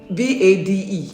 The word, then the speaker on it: Bade: But it's not spelled Bade, it's spelled B-E. B-A-D-E.